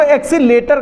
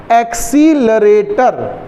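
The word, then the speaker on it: accelerator: बहुत लोग उसको एक्सीलेटर कहते हैं। क्या कहते हैं, होता क्या नाम है, एक्सीलरेटर, इससे बनती स्पेलिंग, को त्वरण कहते हैं।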